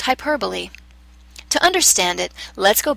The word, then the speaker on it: hyperbole: It looks like hyperbole, but it's actually pronounced hyperbole.